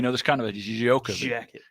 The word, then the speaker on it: Djokovic: I think that's just like Novak Djokovic. Yeah. You know, there's kind of a Djokovic.